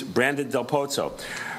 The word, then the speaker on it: Brandon Del Pozo: I'm now pleased to introduce Brandon Del Pozo. Brandon, is that the correct pronunciation?